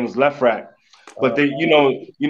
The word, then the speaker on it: LeFrak: ] changed somebody told me that we we mispronouncing it too it's not even left bracket it's the frack yeah it is it is the frack but